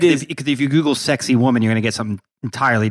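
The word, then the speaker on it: Sacsayhuamán: you can uh yeah pronounce this correctly is to basically say sexy woman but sac say human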